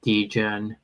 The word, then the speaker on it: degen: Someone is asking about degen, which is I don't even Spell it. like the name. Degen. It's like degenerate. So The gen.